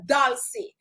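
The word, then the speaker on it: dulcis: d u l c i s so it's pronounced dolce and that is the scientific name for sweet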